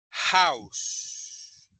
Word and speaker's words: house: Aquí con house es como que la H sonara como si fuese una J, parecida a una J, house.